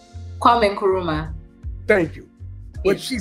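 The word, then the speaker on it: Kwame Nkrumah: leader named Kwame Kwame y'all know I can't pronounce some of these names Kwame and Caruso how do you say his name Kwame kuruma thank you what she said we were taken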